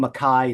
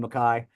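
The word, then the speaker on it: MacKaye: Jeff Nelson um and I keep saying maai it's spelled McKay Henry Rollins calls him Ian maai so I'm going to call him Ian McKai he's his best friend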